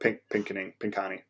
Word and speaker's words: Pinconning: But luckily, Northwood's down in Pinconning, or Pinconning, that's how you say it.